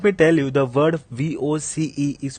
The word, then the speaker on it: voce: First of all, let me tell you the word VOCE is pronounced as Voce and not Voce or Voce or Voce.